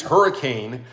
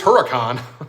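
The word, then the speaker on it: Huracán: in my video his hurricane his hurricane his Huracan make sure I say it right his Lamborghini uh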